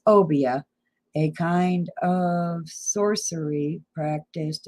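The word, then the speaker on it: Obeah: this time just like I wanted to say Obadiah but that is not Obadiah how do you say it meaning obia I didn't think I'd say it right if I said it that way Akon So it's obia a kind of sorcery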